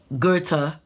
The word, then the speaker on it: Goethe: not only know he's German because of the pronunciation that we got earlier Goethe goe th e Goethe all right thank you